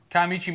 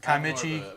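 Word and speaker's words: Kiamichi: I've always pronounced it Kaimichi. I always pronounce Kaimichi. More of a sh sound. Kaimichi. Kaimichi? That's how I Kaimichi? say it, yeah. But that's an old timer, white old timer way of saying it's Kaimichi.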